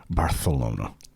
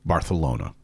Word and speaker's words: Barcelona: It I've been to Barcelona, which is pronounced, by the way, Barcelona with a T. Bar like a like you've got a lisp. Barcelona.